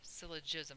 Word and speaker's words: syllogism: law of syllogism actually I said that wrong before syllogism it's a soft G um what we are